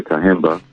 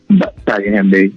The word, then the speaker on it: Kahembe: Well, for those listening, I'm here speaking to Kahemba. Did I pronounce that right, brother? Kahembe, yes, sir.